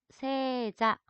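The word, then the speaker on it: 正座: 이 정좌를 일본어로는 세자, 세이자이지만 예 장음으로 발음하기 때문에 세자라고 하게 되면은 정좌라는 뜻입니다.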